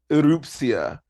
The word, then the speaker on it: Erupcja: Erupcja. Erupcja. Okay. You understand that's hard to pronounce, obviously, for us, the uninitiated.